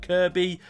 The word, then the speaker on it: Kirkby: And this fascinated me, so I decided to head up to Kirby Stephen, which is spelt Kirkby but said Kirby.